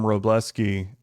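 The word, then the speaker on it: Wrobleski: But they call him They call him Robleski because the W is silent.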